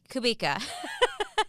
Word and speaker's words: Kubica: saying wait it reminds it rhymes with Topeka so kubi kubika I was practicing that